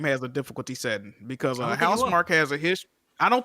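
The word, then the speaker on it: Housemarque: This is the game developed by Housemark. That's how you pronounce it, Jack, right? Yes. Housemark?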